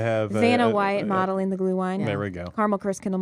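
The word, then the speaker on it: Glühwein: You can get some of that glue wine, is how you say it.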